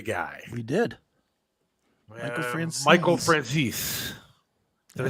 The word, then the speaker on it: Michael Franzese: Michael Franzese. Did I say it right this time or no? You did. Michael Franzese.